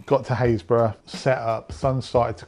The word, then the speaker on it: Happisburgh: Number 2 is the Lighthouse at Haysborough. It's spelt Happisburgh, but pronounced Haysborough, don't ask me why.